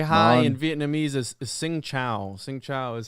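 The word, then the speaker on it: Xin chào: Vietnamese is Sing Chao.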